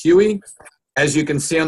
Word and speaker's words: Huy: nutrition and he does not his name is pronounced Huey as you can see on the screen he